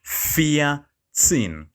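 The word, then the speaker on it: vierzehn: four remember four was fear so it becomes fear sin so sin fear sin then fifteen is fun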